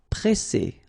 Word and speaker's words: presser: So double S, so the sound is really strong. S. And then because you've got this double S, then it will open the sound of your E and you will get E.